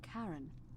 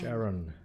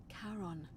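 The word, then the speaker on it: Charon: is a little off the name you heard wasn't Karen it was c h a r o n Shon as in Kon the Fairman of the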